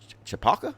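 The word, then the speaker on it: Chappaqua: of right-wing activists are in chapaka is how you pronounce that chapalka right now filing criminal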